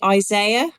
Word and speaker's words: Isaiah: Mark do you say Isaiah Isaiah right so we say Isaiah no yeah did you not know that that's terrible yeah we say Isaiah because one eye is higher than the other one I say it